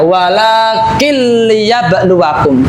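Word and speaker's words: وَلَٰكِن لِّيَبْلُوَكُمْ: Nah, di sini ada nun sukun ya, kemudian bertemu dengan apa ini? Lam kasroh ya. Nun sukun bertemu dengan lam di sini. Nah, lamnya seolah-olah ada tasdidnya. Walakil liyabluwakum.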